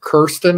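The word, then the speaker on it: Kirsten: good and they had Kiren is how you pronounce it kir kir I called it Kristen it's Kiren dun and she played uh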